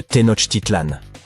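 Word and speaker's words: Tenochtitlan: Il s'agit de Ten Titlan. Les villes Maya ont généralement des noms difficiles à prononcer comme Yaak Shilan.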